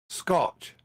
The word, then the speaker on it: Scotch: you say that then is it the Scot egg I was just cut egg Scotch like whiskey oh scotch okay okay